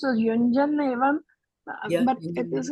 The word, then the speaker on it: युञ्जन्: Like you say un has got also double N, right? Un. Yeah. So the thing is that we don't even pronounce Hindi properly. What you talk about Sanskrit? We say un. Right? Yuñjann. So the nasal tone is there.